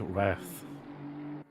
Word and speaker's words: Wrath: So Castellano on Anonymous Rat now, they're only 0.5 of a second off, and it's not Rat R-A-T, W-R-A-T, I-T-H, Wrath. I'll just say it like Rat.